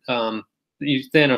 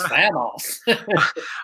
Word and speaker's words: Thanos: Up your glasses and said, "Actually, that's Thanos." I said, "That's Thanos." Before the movie before said we it all was. learned the right way to say it.